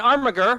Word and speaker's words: armiger: An armiger rhymes with integer.